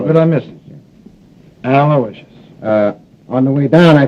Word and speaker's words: Aloysius: Yeah, spell that middle name right. It's Aloysius. Aloysius. Sure. How could I miss it? Aloysius.